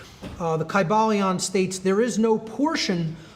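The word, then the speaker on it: Kybalion: Greek language in which there was no like short y sounds you know it would have been a long I sound Kai Bal Leon and every syllable would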